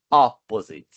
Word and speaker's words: opposite: under, above, between e opposite. Ó, é no primeiro O que é a tônica, né? Opposite.